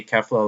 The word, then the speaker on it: Kefla: Well, the sub says they say Kefla, but it's spelled with an A. So I'm just gonna say Kefla, like how the Japanese people say it.